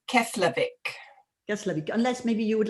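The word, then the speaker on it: Keflavík: and this i cannot help okay can you pronounce the name of the airport slowly she's asking it's keslavik yes unless maybe you would like to type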